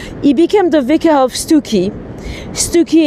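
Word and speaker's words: Stiffkey: He became the vicar of Stuki. Stuki, it's in Norfolk. It's next to um Wales by the Sea. Well, Wales next the sea. Um and uh I say Stuki, but it's actually spelled Stiff Key.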